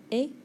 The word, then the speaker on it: ait: All three of those are pronounced et.